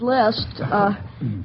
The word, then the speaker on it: Liszt: Well, I'll start off with Franz Liszt. Say, I'm going to the grocer to see how he's doing in preparing my grocery list. List? Of course, that's spelled L-I-S-T, and the composer is L-I-S-Z-T.